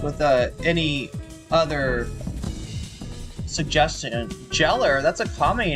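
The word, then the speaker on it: Gellar: Um, I feel like most people think that it is pronounced Geller, like Sarah Michelle Geller, but it's actually a mistake. All right. I don't usually make a big deal about it, but you know, since I've got my uh second channel, I might as well tell you how it's pronounced. It's pronounced jeller.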